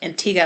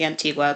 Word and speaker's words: Antigua: learning so it's pronounced Antiga it looks like Antigua but it's pronounced Antiga and Barbuda they are